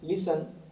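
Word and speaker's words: listen: की बात है कि शब्द है एल आई एस टीई एन टी एन और टी सी एच तीनों साथ आते हैं तो टी साइलेंट रहता है टी साइलेंट रहता है इस वर्ड को पढ़ेंगे लिसन और इस वर्ड को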